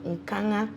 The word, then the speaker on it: Nkanga: Okay, so my name is Nkanga. Yes, so sorry. The N is silent.